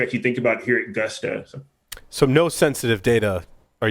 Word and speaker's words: Gusto: Is it Gusto? Oh yeah, it's pronounced gusto, like literally, like hey, with gusto, and it's all about